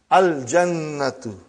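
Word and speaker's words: الجنة: Brother, you will pronounce Lam. Al-Jannatu.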